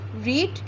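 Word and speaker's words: read: He likes the book to बी रीड की third form. Spelling change नहीं होती, बस इसकी प्रोनाउंसिएशन रेड हो जाती है।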